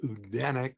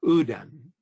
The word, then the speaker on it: Odin: The word Odinic refers to the Scandinavian god Odin, which is actually pronounced not Odin, which we normally pronounce, but Odin in the Northern European languages, in the original Norse.